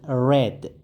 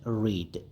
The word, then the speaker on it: read: The verb read has two pronunciation. If it is past simple, we should read it as read, not read. So here the tense is past simple.